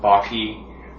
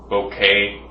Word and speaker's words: bokeh: People pronounce the word in different ways. Some people pronounce it Bokeh, some people pronounce it like Bokeh. You can call it whatever you want. I call it Bokeh because that's what it sounds like to me.